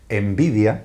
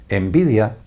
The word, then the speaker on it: Nvidia: tiene el curioso nombre, lo pronuncio en castellano, ¿vale? Envidia es como se llama, nvidia, envidia es como se llama esa empresa envidia.